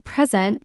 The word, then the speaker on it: present: Like record, record as a noun, record as a verb, or present, present as a noun or adjective, present as a verb.